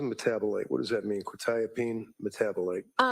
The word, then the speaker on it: quetiapine: Probably mispronouncing this quetiapine? Uh quetiapine.